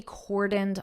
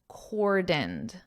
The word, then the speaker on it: cordoned: of Paris will be cordoned off. Listen to my pronunciation Cordoned, dinned, cordoned. So the emphasis is on the 1st syllable core, and then the second syllable is unstressed.